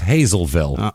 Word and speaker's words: Hazlettville: That's Hazlettville, but it's Hazelville here. What? There's 2 T's that are completely ignored.